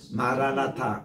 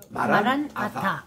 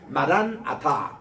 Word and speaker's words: 마라나타: 그렇게 할 때도 보면 마라나타 붙여 있지 마시기 바랍니다 마란이라는 것이 바로 오시옵소서 아타 그게 주님 이런 말이거든요 그래서 마란 아타 이렇게 발음해 따라다 마란 아타 마란 아타 아타는 주님이요